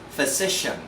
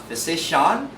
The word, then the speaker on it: physician: Another suffixes for C-I-A-N must be pronounced as soft shen again. So this one must be pronounced as physician, electrician, not physician, not electrician.